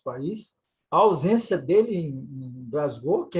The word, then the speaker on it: Glasgow: A pronúncia é essa mesmo, da cidade escocesa lá? Glasgow. Glasgow.